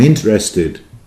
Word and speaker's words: interested: notice, being English, that some words that Californians use, they drop the T on. For example, I'm interested. Even then, I couldn't resist my English pronunciation, which is putting T in there.